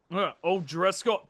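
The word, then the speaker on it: O'Driscoll: by uh Gary ois I think is pronounced o Driscoll dude I don't know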